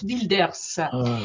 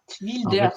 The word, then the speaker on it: Wilders: de rville redvilles à au néderland Wilders hert wildilders tu prononces c'était Iness hein c'est RT Wilders wildilders Gérard wildilders ah d'accord et eu il y